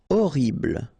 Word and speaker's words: horrible: Horrible. Okay, first letter is H, but then we don't pronounce H, so you don't pronounce it. And the first thing you hear is O.